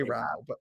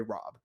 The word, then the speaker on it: Raub: nomination Trey raub r-a-u-b Trey Rob that's how he says it the Britain correct correct pronunciation is Trey Rob like like as if it was Rob but r-a-u-b Trey but it's just obviously